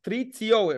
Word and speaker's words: Patricio: Patricio, right?